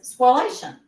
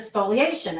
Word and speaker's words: spoliation: Um that I was pronouncing it as spoliation. Instead of spoliation.